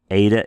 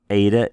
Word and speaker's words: eta: Eta is A. Pardon me. Let's go back here and make sure we can say this correctly. Epsilon is A. Zeta is Z. Eta is A, and theta is th.